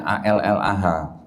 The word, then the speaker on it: Allah: Jadi saya mengutip dan saya membaca sesuai dengan tulisan di kitab mereka, tulisannya ALLAH. Saya bacanya Allah karena nggak ada tasdidnya Pak ya.